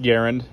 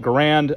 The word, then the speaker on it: Garand: devised the m1 garen first fact is it's pronounced garen a lot of people get mad when i call it grand i'm american so i speak american and i